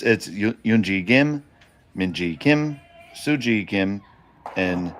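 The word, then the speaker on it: Eun-ji Gim: It's Yoonji Gim, Minji Kim, Suji Kim, and Okay.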